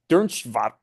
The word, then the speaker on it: Dernschwam: Then we can read an account here of how they were viewed, by the way, by this German merchant named Hans Dernschwam.